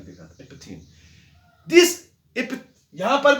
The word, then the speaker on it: epitheme: अब ये loosely packed है, इसको इपथीम बोलते हैं। क्या बोलते हैं इसको? इपथीम, EPITHEME स्पेलिंग देखा, इपथीम।